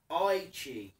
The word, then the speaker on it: Itchy: Itchy is saying, my name is practically pronounced Itchy, like Aichi.